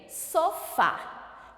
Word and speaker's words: sofá: Primeiro, sofá. Qual é a sílaba tônica? Fá, a última sílaba.